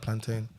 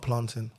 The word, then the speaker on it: plantain: chicken fried chicken fried plantain not planting I don't know why you guys say planted anyway it's spelled p l a n how say plantain plain plain no it's not plain plantain plantain PL plantain yeah